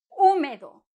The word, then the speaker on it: húmedo: un móvil de islay húmedo húmedo con acento en la un húmedo y húmeda may para